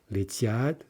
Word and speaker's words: летят: Летят, stress on the second syllable.